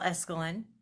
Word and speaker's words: Esquilen: hi honeys it's esquilen just in case you were wondering how to pronounce my last name if you were a